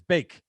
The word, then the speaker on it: Van de Beek: Bake, not Beek.